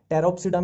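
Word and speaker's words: Pteropsida: टेरोप्सिडा में देखो अब वही है, फिर पी साइलेंट चलेगा। टेरोप्सिडा ये आ गया टेरिस, ठीक है।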